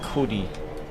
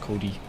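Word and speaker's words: Kodi: your name sorry uh my name is Cody k-o-d-i it's a weird way to spell it most people spell it differently um I have a weird or unique spelling but it's just pronounced Cody try and get a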